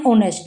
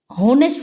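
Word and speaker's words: honest: इट is safe to employee Sahil because he इज एन ऑनेस्ट मैन। ऑनेस्ट होनेस्ट नहीं बोलते इसको। इसमें H silent है। तो यह मान लीजिए कि ओ से शुरू हो रहा है। एच तो साइलेंट है।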